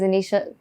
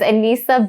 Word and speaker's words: Aneesa: youtube anissa is anisha oh my god did i just say my name wrong is anissa pretty much everything